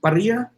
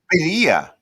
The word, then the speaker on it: Birria: Roll your R's. Birra. I can roll my R. Birra. I don't know why I'm getting Barria. Anyways, Casey Birra. God, that didn't even sound right. Birra. No, it's Birria.